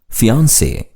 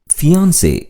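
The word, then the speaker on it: fiancée: ஃபியான்சே. ஃபியான்சே என்ற சொல் ஒரு பெண் திருமணம் செய்து கொள்ளப் போகும் ஆணை குறிக்கும். ஒரு ஆண் மணமுடிக்கப் போகும் பெண்ணை குறிக்க FIANCEE என்ற ஸ்பெல்லிங்குடன் இச்சொல்லை பயன்படுத்த வேண்டும். இரண்டு சொற்களுக்குமே உச்சரிப்பு ஒன்றுதான். ஃபியான்சே.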